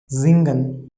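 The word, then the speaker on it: singen: zen means to see okay now third example zingan s i after s vol is coming i is coming pronunciation of s will be so z gun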